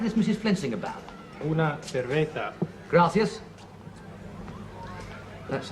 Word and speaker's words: cerveza: Servicer, that does mean beer, doesn't it?